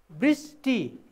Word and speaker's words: वृष्टि: भयो प्रसन्नता यसै गरी वृष्टि यहाँ हेर्नुहोस् यहाँ व छ र यहाँ ब छ वृष उच्चारण गर्दा ब ब उच्चारण हुन्छ लेख्दाखेरि वृष्टि हो उच्चारण